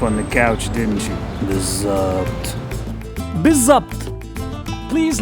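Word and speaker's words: بالضبط: Today's word is Bizzabt. Biz-Zabt. It can also be pronounced as Bithabt.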